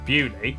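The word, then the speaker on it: Beaulieu: Starting in Biaulio, Bewley, head over to Rampisham, Ransom, then down to Mousehole.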